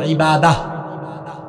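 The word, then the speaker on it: عبادة: এটাকে আমরা আরবিতে এভাবে উচ্চারণ করি, ইবাদাহ।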